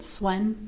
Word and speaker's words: Sven: And then this Sven. Swen. How do you say his name? Swen. Okay, Swen.